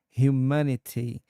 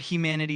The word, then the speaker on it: humanity: The word humanity is pronounced as humanity uh with the emphasis on the second syllable.